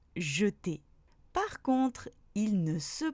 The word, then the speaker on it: jeter: Le E se prononce quand il est dans la première syllabe du mot. Par exemple, dans demain, fenêtre ou encore jeter.